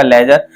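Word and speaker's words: ledger: लेजर वही खाता होता है।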